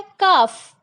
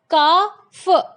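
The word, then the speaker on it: calf: First है काफ। अब काफ, ल की साउंड आपको नहीं आ रही है, काफ।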